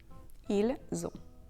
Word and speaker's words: ils ont: The S liaison is pronounced z. Ils ont.